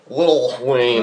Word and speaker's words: Lil Wayne: Yes, it is Lil. Lil Wayne. Lil Wayne. There's no T's in there, I forgot. Little would take too long to say. It would. And it doesn't rhyme with much. And adds like an extra syllable.